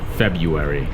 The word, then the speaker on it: February: Honestly, February, even though I'm born in February, February is incredibly difficult to pronounce. You could say February, and I honestly say February, but the correct way to pronounce it is February.